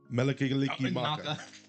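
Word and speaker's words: Mele Kalikimaka: Can you pronounce it, John? Yes. How do you say it? Melikigaliki Maka.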